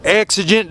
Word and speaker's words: Exigent: It kills him when somebody pronounces the name wrong. It is Exigent Defense.